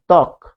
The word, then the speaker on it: ত্বক: তার মানে শুরুতে থাকলে, বফলার নিয়ম আমরা পড়ছি, শুরুতে থাকলে সে উচ্চারণ হবে না, যেমন ত্বক, তাই না?